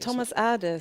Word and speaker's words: Thomas Adès: Thomas Adès.